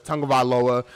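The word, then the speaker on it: Tagovailoa: how he said his last name but it's tongavaloa uh for kim jerry like i messed up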